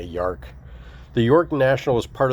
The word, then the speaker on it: York: It's funny because the way it's spelled looks like Yark. It's not really an O, it's like an A, Yark.